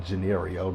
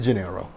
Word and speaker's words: Gennaro: I'm sorry, his name was Gennario, the way it's spelled. But it's Gennaro.